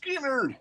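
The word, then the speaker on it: Skynyrd: Skinnerd, pronounced Skinnerd.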